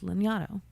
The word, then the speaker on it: Lanyadoo: And she was on an episode of mine, and the correct way to pronounce her last name is Lanyadoo.